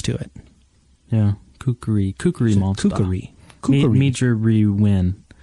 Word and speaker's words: kukri: I did not know that there were 3 syllables to it. Yeah. Kukri.